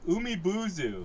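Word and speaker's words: Umibōzu: Yeah, chapter 2, the Umibuzu.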